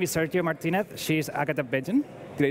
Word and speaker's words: Bejan: Changer my name is Sergio Martinez she's Agatha Beijing did I say it right yeah okay so